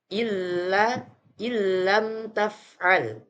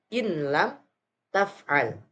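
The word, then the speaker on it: ألم تفعل: Contoh pada lafaz berikut ini, illam taf'al. Illam taf'al. Jadi tidak dibaca dengan in lam taf'al atau illam taf'al.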